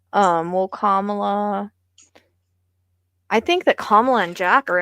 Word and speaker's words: Kamala: I kind of thought he might fake it first in order for Kamala to come in.